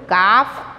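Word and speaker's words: calf: आप यहाँ पे ढूंढो, काफ, कब, केचिक, क्या आएगा? हाँ, सी एल एफ, काफ. L will be silent, L की आवाज़ नहीं आती है, सिर्फ ऐसे बोलेंगे काफ, राइट?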